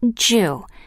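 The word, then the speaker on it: 十: in Japan because it is pronounced Jew like the Japanese word for enough in the Western World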